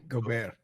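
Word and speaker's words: Gobert: How do I pronounce it, man? Go. Go. Go. Go. Go. Say it again. Go. Go bear. Go bear. Go. So like go bear. Yeah, that's perfect.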